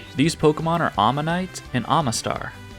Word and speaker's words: Omanyte: These Pokémon are Omanyte and Omastar. But I've always called them Omanite and Omastar, which is only slightly different, but still incorrect I suppose.